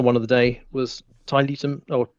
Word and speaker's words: Tiletum: And then my final one of the day was Tiletum, or Tiletum, apparently is how it's pronounced, which is, it's not a tea game, even though it begins with T.